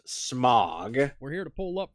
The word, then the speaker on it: Smaug: It's pronounced Mog. I know I'm making a joke. No, smog as in No, it's pronounced smog.